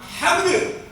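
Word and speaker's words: حمدُ: Kalau ada 2 huruf, yang satu sebelum huruf terakhir mati, yang satu hidup kayak hamdu misalnya, maka bacanya tidak hamd, tidak, tapi hamdu.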